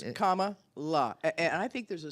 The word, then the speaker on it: Kamala: about comma K La that's how you say it K La just in case you're wondering it's comma and then La I think there's a